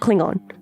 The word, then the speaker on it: Klingon: every time it's different Klingon as if you were talking about plastic wrap so what is pronounced Klingon Klingon yeah you got